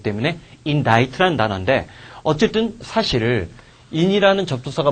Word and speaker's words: indict: 그러니까 인딕트로 될 것 같은데 사실은 C가 묵음이야. C가 묵음이게 되기 때문에 indict라는 단어인데 어쨌든 사실 in이라는 접두사가 붙은 거 공간적으로 안쪽이라든지 얘는 공간적인 거겠지.